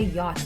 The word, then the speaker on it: yacht: And also, she can't say yacht. I know that yacht is spelled similar to watch, but it's not pronounced the same.